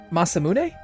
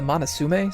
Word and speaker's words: Masamune: The Masamune? As a kid, I actually called it the Monasume, so don't judge my pronunciation.